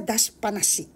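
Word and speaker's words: 出しっぱなし: Actually, may dashi siya, pero pag gusto nyo mabigkas na maganda, magtunog native kayo, dashi panashi.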